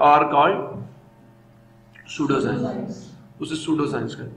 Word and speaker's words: pseudo: सूडो science, सूडो P silent, सूडो science जी, क्या होती है सूडो साइंस?